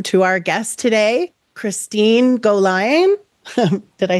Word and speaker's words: Gollayan: having me and uh saying my name correctly pronouncing my name correctly uh yes Christine Goan uh currently I am a program manager in